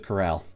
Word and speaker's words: corral: A coral stood before the pair, closing two grazing mares. A corral. It's a corral, not a coral. But it's spelled like coral.